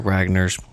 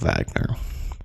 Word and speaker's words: Wagner: well-known uh pieces of Wagner it's also spelled with a W but the way the Germans do it it sounded out with a uh like a V different times that this